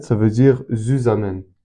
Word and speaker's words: zusammen: En fait, Z, ça veut dire zusammen. Zusammen, en tout cas, je le prononce en français, mais c'est de l'allemand, ça veut dire ensemble.